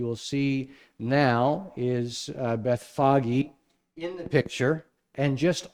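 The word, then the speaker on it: Bethphage: or beit anya and do you remember the how to pronounce the other one beth foggy yeah beth foggy so this is where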